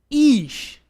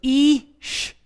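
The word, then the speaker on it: אִישׁ: It's Ish. Remember our Hirik and our Yud gives it a E sound, like the I is in machine. Machine. So it's Ish, Ish.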